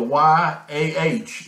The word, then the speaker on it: Yah: it's talking about is how would you pronounce these two letters in ancient Hebrew well you would the y-a-h is how we in our English we use our letters yah to get the same sound that that someone that in the